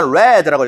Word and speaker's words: read: 자, 과거니까 red라고 읽어야 되죠.